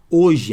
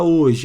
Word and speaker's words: hoje: Helena não mudou nada hoje a palavra hoje ó quatro letras mas quantos sons ó esse esse H aqui de hoje tem som não vou fazer um x